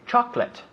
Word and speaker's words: chocolate: Now we say chocolate. Chocolate. Yeah, 2 syllables.